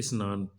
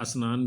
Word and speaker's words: स्नान: है उदाहरण के लिए शब्द है स्नान इसको लोग अनान भी कहते हैं और स्नान भोजपुरी में